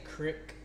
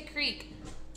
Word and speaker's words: creek: Does he say crick? He does. He says crick. We say creek. creek. What do you say? Like, we're going to go play in the creek. Because or do you say it's spelled C-R-E-E-K.